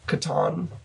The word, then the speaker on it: Catan: of Catan too yes I don't know if that's how classic most people pronounce it but that's how I pronounce it Katan yeah I say Katan I say it's a tan but it's probably just